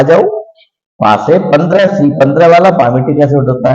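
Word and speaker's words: palmitic: पामिटिक acid. पामिटिक acid, पाल्मिटिक नहीं बोलते, एल इसमें अनप्रोनाउंस है बेटा, इसकी उद्भाग इसको बोलते नहीं है, पाल्मिटिक नहीं बोलते, पामिटिक एसिड।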